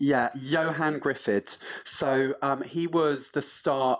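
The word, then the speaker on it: Ioan Gruffudd: And I don't even know how to pronounce that actor's name, but I'm sure you do. Tell me what he's called. Yeah, Johan Griffith.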